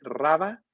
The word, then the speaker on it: Raba: El canal de Rubano, se escribe Raba, R-A-B-A, Raba, y luego Apple, todo junto, Raba Apple.